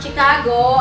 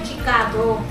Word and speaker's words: Chicago: siya hindi daw yan chicago ano chicago chicago ah chicago opo nabasa ko na din sa comment ang pag-pronounce daw ng chi doon sa ano is she e dito kasi sa